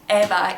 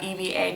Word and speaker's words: Eva: pronouncing it Camilla, and Eva, E-V-A, people are pronouncing it Eva, and I don't think